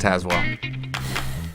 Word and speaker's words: Tazewell: Tazewell. Pronounced Tazwell.